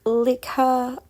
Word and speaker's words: Likha: Leica is actually a Filipino word actually pronounced like her, but I like her.